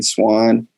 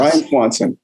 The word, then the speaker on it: Swanson: pronounce his name wrong I think you might have said Ryan Swan did you say swan or Swanson is it Swanson yeah Ryan Swanson I'll get it right